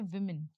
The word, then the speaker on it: women: ये है देखिए सिंगुलर और प्लूरल होता है विमेन, ना कि वुमन्स। ये है वुमन और इसका प्रोनाउंसिएशन क्या होता है? इसका प्रोनाउंसिएशन होता है विमेन।